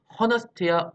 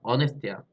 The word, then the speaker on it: honest: 이건데, 자, 여기 같은 경우에는 자, 봐봐, honest 발음이 어떻게 돼? honest야, honest야, honest지, 무금이에요, 마찬가지로.